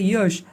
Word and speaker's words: Yaas: Cyclonic storm यश pronounce एज ए यश over east central bay of Bengal पे ये reach करेगा।